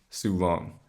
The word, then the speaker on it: Soo Long: the first dilemma is from soo long hey jordan my name is sue long pronounced sue long and i'm 20.